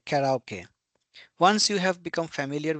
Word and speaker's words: karaoke: Conversely, if you pronounce karaoke in English, no Japanese person would understand it. So in Japanese it is called karaoke, and in English you will say karaoke.